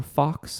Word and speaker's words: Fach: of the fasces or Fachs. I'm not sure exactly how you pronounce that. F-A-C-H. It's German, so I'm actually beginning to think it's probably Fach.